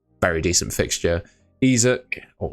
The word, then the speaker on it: Isak: Isaac is how you pronounce it.